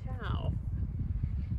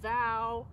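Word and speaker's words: Thao: She's thinking she might rather have the name Olivia instead of Tao. Olivia, like this one. Letters get added and scrambled and left behind when people read her name. Thou. Tail, some people call her accidentally Tail when they read her name.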